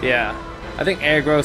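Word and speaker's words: Agro: I remember someone posted in the comments that it's pronounced Argro, but I don't know where that came from, but I've never heard anything but aggro in comments. Aggro, I even looked it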